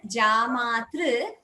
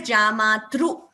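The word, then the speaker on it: जामातृ: So this word Jamatru, slight change there. It should not be chanted as Jamatru. It is Jamatru.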